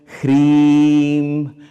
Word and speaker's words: ह्रीं: There's no particular rules about how to do it, as long as a pronunciation, in this pronunciation is very important. I'm, not I'm, HREEM, SHREEM, you have to lengthen that, okay?